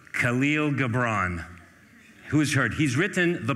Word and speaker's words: Khalil Gibran: Pronounced Khalil Gibran.